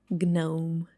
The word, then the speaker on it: gnome: How do you pronounce it? Gnome. No. No. It should be pronounced like gnome.